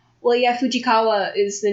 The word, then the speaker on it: Fujikawa: Well, yeah, Fujikawa is the name of something in one of my favorite animes.